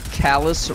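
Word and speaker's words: Calus: I have high hopes Calais rhymes with chalice oh that's why he'll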